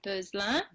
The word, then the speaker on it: Beuzelin: So in French, I mean, it's like 12 letters long, but we only use like 6 of those letters. So it's pronounced Beuzelin.